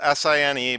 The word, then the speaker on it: sine: 90 degree angle so the sine so it's spelled SI NE but it's sine of angle a is